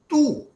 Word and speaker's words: tous: a morphological change also, because tu does not have sa in pronunciation. But in another situation, tous, when we pronounce tous, les étudiants ont tous bien mangé, we have added sa.